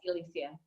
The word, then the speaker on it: Elysia: and your story right now, Elysia, am I pronouncing your name correctly? Thank you. Yes, Elysia.